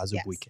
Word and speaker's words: Azubuike: That's how he pronounces Yes. it. Azubuike.